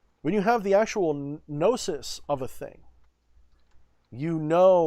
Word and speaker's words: gnosis: had the experience of gnosis gnosis gnosis however you like to pronounce it some people would even say gunosis and they're not entirely wrong but i think the correct original way of saying it was gnosis but yeah like the